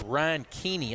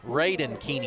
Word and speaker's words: Raiden Keeney: And the quarterback is Ryan Keeney, I believe, is Raiden Keeney, excuse me, is how you pronounce that.